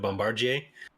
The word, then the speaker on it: Bombardier: I'm glad they went with the the proper pronunciation of Bombardier oh yeah that was that was really nice